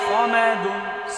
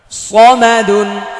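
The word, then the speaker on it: صمد: সামাদুন, সামাদুন, সামাদুন বলা যাবে না, সামাদুন বললে এটা সিন হয়ে যাবে, এটা সদ স স। সিনের উচ্চারণ সা, আকার হবে একটা, আকারটা মুছে ফেললে স, আকার দিলে সা। সদ হচ্ছে আকার ছাড়া স স, আর সিন হচ্ছে আকার দিয়ে সা সা।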